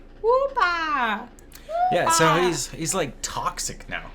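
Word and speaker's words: Wooper: We're getting, Whooper? You gotta say it right. That's how he says it. Whoopa!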